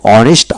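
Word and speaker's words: honest: এইচ বিশিষ্ট সকল ওয়ার্ডের ক্ষেত্রে এ বসে, কেবল অনেস্ট, আওয়ার, অনারেবল, ইয়ার এদের ক্ষেত্রে এন বসে। অর্থাৎ যে সকল ওয়ার্ডের ক্ষেত্রে এইচ উচ্চারিত হয় না অর্থাৎ এইচ এর পরবর্তী অক্ষরে উচ্চারণ হয়ে থাকে সেক্ষেত্রে এন বসে।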